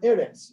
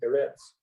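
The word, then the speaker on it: ארץ: Now, normally put the accent on the last syllable, instead of eretz, they put this little funny little triangle thing sideways. That's where the accent is. So this is going to be eretz instead of eretz.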